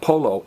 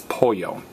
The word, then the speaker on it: pollo: poultry poo and again the Double L is pronounced as a y which is why when